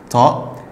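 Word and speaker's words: ط: Ta. Ta, c'est comme le ta, mais plus lourd. Ta. Ta, la gorge, ça vient un peu de la gorge.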